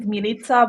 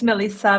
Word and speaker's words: Milica: Actually, you pronounce it Milica, but I'm used to in the US. It's Melissa, Militia, whatever it is, it's fine.